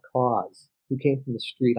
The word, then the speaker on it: Kaws: And I was like, if you say it without knowing how it's spelled Kaws, but if you say it, it says cause.